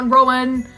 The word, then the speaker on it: Rowan: I'm praying I'm pronouncing his first name right. I tried to Google it. It was Indian pronunciations. I didn't know if that was correct. It was Rowan.